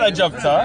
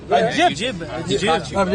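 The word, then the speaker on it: عجيب: It is not a jabta. Does anybody speak Arabic here? Thank you. You said ajab. No, ajib. You're saying it wrong, bro.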